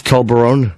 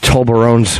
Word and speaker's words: Toblerone: Less Toblerone.